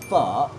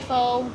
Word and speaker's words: Phở: and falling tone so you end up with f so that's the correct way to say it don't say faux don't say F don't say F or whatever it is it's f that's the Vietnamese lesson